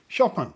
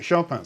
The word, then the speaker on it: Chopin: about pronouncing shaan uh there is a Polish pronunciation but shaan lived in France from the age of 20 and chose to adopt French pronunciation of his name and that's the pronunciation that you'll find is the recommended pronunciation online and it doesn't differ enormously from the way I say his name shopan fras shopan so there we go